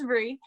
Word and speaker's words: Bri: I always say my name is Bree like the cheese, but it's not, because it's spelled B-R-I without the E.